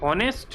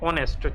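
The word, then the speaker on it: honest: इसको आप होनेस्ट ना कह के क्या कहते हो? एच साइलेंट और इसको आप कहते हो ऑनेस्ट।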